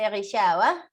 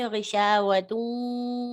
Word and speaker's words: غشاوة: If you stop here, you say ghishawa. If you continue, you say ghishawatu walahum. Idgham with 2 counts.